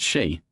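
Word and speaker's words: 佘: Are you talking about She Saihua, or She Taijun Boss, that word is pronounced she, not yu.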